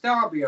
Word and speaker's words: Derby: I'm from a city called Derby, which is spelt Derby over here, but it's pronounced Derby over there.